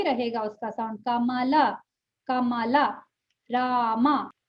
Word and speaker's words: राम: Ma'am, राम का सही उच्चारण क्या है? राम, रामा, रामा, रामा, आ लगाना है। आ बोलेंगे, आ, राम, हाँ, रामा।